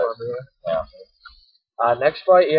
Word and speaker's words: Cormier: And I'm gonna go with Cormier is how you actually pronounce it. Cormier.